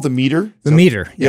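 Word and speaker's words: Meater: think it's called the meter the meter yeah it's called the meter right it's spelled meat right yes m e a t e r yes yes yes it's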